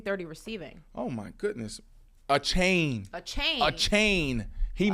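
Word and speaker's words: Achane: and going back um apparently his name is pronounced a chain a chain a chain So Divine a chain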